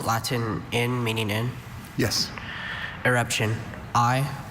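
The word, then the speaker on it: irruption: Eruption.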